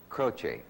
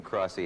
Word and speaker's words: Croce: your own name name it's spelled c r o CE e croch croch that's right well last night I had you when I announced you halfway between crossy and crotch and I'm very sorry